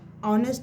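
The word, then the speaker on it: honest: ऑनेस्ट एच है तो consonant, पर इसका हिंदी उच्चारण क्या आ रहा है? हिंदी प्रोनाउंसिएशन क्या आ रहा है? आ क्या है वॉवेल, इसलिए यहाँ पे क्या है एन।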